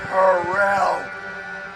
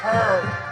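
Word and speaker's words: Herrell: tired of you saying my grandson's name wrong. How do you say it? Harrell. All right. We can do that. I can do that. Please, it's the last game. Horrell? Horrell.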